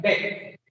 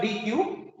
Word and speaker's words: deque: We have to pronounce like deck. DEQUE. We have to pronounce like deck. It's not DQ.